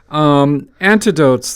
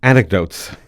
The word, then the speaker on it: anecdotes: Antidotes, though, sorry, I mispronounced it. You pronounce it how? Anecdotes.